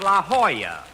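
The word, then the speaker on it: La Jolla: Rochester, I found out that's pronounced La Hoya. It turned out to be a Spanish word.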